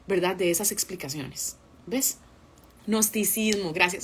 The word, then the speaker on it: Gnosticismo: Gnosticismo, gracias. Se escribe con G, pero muy bien.